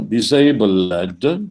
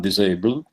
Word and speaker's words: disabled: And then eventually there's a word which needs to be pronounced according to the metrical structure, disabled, not disabled.